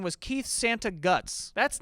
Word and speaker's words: Santagato: My last name is Santagato, and if you just look at the name, you go, that's how you say it. But people, for whatever reason, are like Santiago because they're not looking at the word.